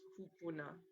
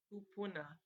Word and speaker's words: kupuna: So again, that Hawaiian word for your ancestors is kupuna. And you can say it with me, kupuna. And it's spelled Kupuna.